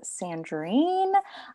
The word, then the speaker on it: Sandrine: My name is Sandrine. Kind of rhymes with tangerine, not spelled exactly the same way, but I know it's a little bit different.